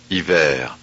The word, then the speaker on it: hiver: Here are words ending in ER where the R is pronounced.